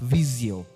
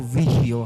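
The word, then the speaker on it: Visio: for example we have Microsoft viso or Vio how however you want to pronounce it or depending on your English teacher but now the viso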